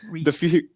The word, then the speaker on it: Rhys: Yeah, for Rhys, anyone who's asking, my name is pronounced Rhys.